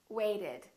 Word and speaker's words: waited: the Ed rule again if the last letter is t or d we add an extra syllable wait waited attend attended if the